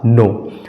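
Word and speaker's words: know: हैं फ्रेंड्स उदाहरण में के एओड इसका सही उच्चारण हो जाएगा नो इसका सही उच्चारण हो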